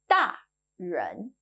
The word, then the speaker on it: 大人: If you guessed 大人, you're right. In Mandarin, we call grown-ups 大人, big person.